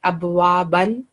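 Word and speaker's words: أبوابًا: 9, rule of work, that this tanween of fatha will change into fatha with alif and will be pronounced in place of tanween. Okay. So like it, abwaban will change into abwaba.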